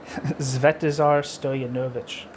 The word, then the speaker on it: Svetozar Stojanović: Hey everybody, this is chapter one of how do you pronounce his name? Zvetazar Stoyan Novich.